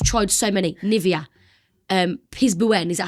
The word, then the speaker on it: Piz Buin: Um, Piz Buin, is that how you say it? Piz Buin, yeah. Piz Buin.